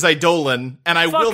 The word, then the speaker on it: Eidolon: learned that we've been saying idol on wrong for like a year and a half i refuse to say it any other way honestly the correct pronunciation is a dolan and i will not